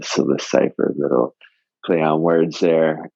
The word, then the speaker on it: Psilocypher: It's spelled PSILOCYPHER, the Scylla Cipher, little play on words there.